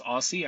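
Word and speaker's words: OSSI: Tom Michaels, professor of horticulture at the University of Minnesota and founder of the Open Source Seed Initiative, pronounced Aussie.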